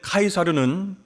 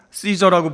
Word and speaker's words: 카이사르: 여기에 가이사로 번역된 카이사르는 여러분 잘 아시겠지만 로마 황제를 가리키는 그런 말입니다. 원래 영어식 발음으로 시저라고 부르는 율리우스 카이사르 장군의 이름이에요.